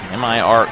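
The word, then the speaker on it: Mire: M I R E. Spelled pronounced Mir.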